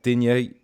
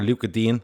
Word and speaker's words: Digne: And Silva has brought in Richarlison, Mina, Digne, or Luca Dean, as I think is the proper way to say it.